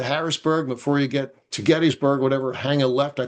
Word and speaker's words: Gettysburg: And speaking of Gettysburg, there's always another controversy whether it's pronounced Gettysburg or Gettysburg. Some people say, well, the town was named after James Geddes, so it should be Gettysburg, not Gettysburg.